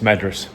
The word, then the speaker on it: Madras: have said to her Madras but I'm going to get confused so and I've got it in my head that it's madas now which is a proper pronun pronunciation so I said to